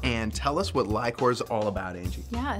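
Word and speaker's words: LI-COR: It's pronounced Lycor. And, yep, I'm running late. Come on. Well, this is Angie Hofschneider. She is a vice president here at Lycor. And tell us what Lycor is all about, Angie.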